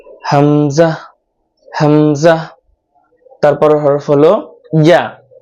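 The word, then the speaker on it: ي: তারপর হরফ হলো ইয়া। ইয়াটা উচ্চারণ করতে হবে জিহ্বার মধ্যখান উপরে তালুর সাথে লাগিয়ে তারপর উচ্চারণ করতে হবে এবং কোনো বাতাস বের করা যাবে না।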